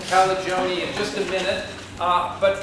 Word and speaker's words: Calagione: We're going to enjoy so much hearing from Mariah Calagione. Yes, that's right. Rhymes with baloney. Calagione in just a minute.